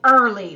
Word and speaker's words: early: just hear three sounds the sound er in this word is spelled with e-a-r do you notice that look at the word the ear letters are making the er sound in this word we're